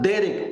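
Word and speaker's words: דרך: que que en hebreo se escribe Derek y Derek Derek así como se escucha con con al final Derek y significa curso de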